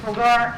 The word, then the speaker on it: Pulgar: Pulgar, is that how you say it?